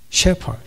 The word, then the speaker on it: 셰퍼드: 발음을 좀 조심해야 되겠습니다. 제가 말하는 세퍼드는 그 세퍼드가 아닙니다. 셰퍼드. 그냥 목자예요.